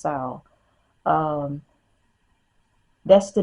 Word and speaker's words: Samhain: You have Ostara, Mabon, Sal, I think that's how you pronounce it, or Samhain, but Samhain is pronounced Sal actually. It's spelled Samhain, but they say it's pronounced Sal.